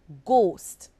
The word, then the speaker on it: ghost: word consider the word ghost the word ghost is spelled g h o s t g h is at the beginning of the word and it makes the G sound the H is silent now consider the word